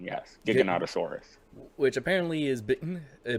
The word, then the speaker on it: Giganotosaurus: had the I thought it was called a gigantosaurus so but it's they call it Giganotosaurus that is the correct pronunciation yes Giganotosaurus which apparently is bitten a bigger and meaner